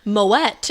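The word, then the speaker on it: Moët: really not bougie saying moette oh I I thought that would be the most American thing we could do is say Moet but it but there you go I guess it's not and you know what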